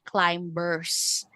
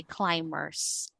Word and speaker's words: climbers: So this is actually a word with silent b. So we don't say climbers. Okay? we say climbers and then we have